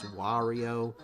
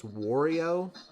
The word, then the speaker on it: Wario: I've been trying throughout this video to say it the correct way, which is Wario with a ah sound, because he's always saying why. I tend to pronounce his name as Wario, kind of like Oreo cookie, or like make love not Wario.